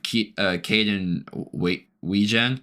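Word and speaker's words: Kaden Wetjen: Man by the name of Caden Weegen. The T is silent in that, surprisingly.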